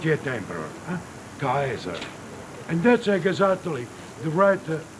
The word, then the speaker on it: Caesar: exactly the WR Lettin say kaer not scissor or chesar as we say when uh I have studied Legend and that's why uh I met for years a lot of incredible RS just pronouncing Cher the right pronouncing is a ker in fact in a